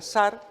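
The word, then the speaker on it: שַׂר: estudio de la palabra sar que nos ayude a entender que tenemos se usa 4 421 veces en el hebreo está escrito en hebreo se pronuncia zar y es una oficial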